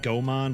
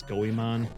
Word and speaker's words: Goemon: I always pronounced it Gomon, but I guess it's Goemon. There was the other character